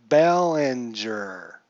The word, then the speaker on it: Belanger: out off of his own card gesture your pronunciation is killing this old man it's Belanger Belanger there we go ballinger I'm sorry mr.